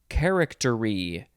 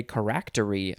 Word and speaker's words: charactery: a party next is charactery charactery or you could say correctory i guess if you want charactery noun from 1598